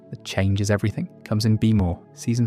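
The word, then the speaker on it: BMO: Now, BM O BM O be more phonetically Beimo is one of the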